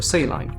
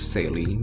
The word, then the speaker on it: saline: By the way, you can pronounce it as either saline or saline. Both work. The natural question here would be, what does saline mean?